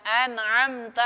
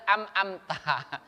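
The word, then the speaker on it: أنعمت: Biasa ada orang baca tuh Pak, harusnya kan baca an'amta, dia amta, amta. Ada ngam-ngamtah. Tak tahulah tuh apa yang dibacanya. Yang betul tuh an dulu baru am. An'amta.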